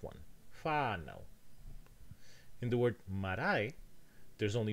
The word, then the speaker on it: marae: However, the rule says that the stress must go on the leftmost heavy, and that one is indeed the leftmost heavy. So the stress goes here, marae.